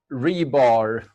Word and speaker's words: RBAR: we wrapped the contents I'm gonna talk about rebar that's how it's supposed to be pronounced according to Jeff Mode and who I